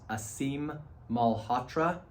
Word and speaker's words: Aseem Malhotra: One of the people who it's been interesting to follow, there's a doctor named, I believe it's pronounced Aseem Malhotra. It's Aseem Malhotra.